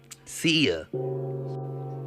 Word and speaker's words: Cia: She said, "Cia." I looked at her like, "Cia, how you spell that?" She was like, "C I A but not like the CIA."